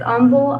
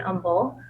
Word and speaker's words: Humble: that our district is Umble ISD and Umble like humble stay humble and Umble um it is Umble pronounced silent h silent h cool silent envil Texas